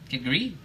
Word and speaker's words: kedgeree: But I got the accent on the up on the end. Kedgeree.